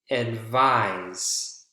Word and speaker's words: advise: Agree, behave, occur, protect, advise. Advise is a verb. Two syllables, second syllable is the strongest.